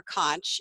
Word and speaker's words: conch: this conch shell and you can say conch or conch either ways correctly its correct to pronounce it and Peggy says oh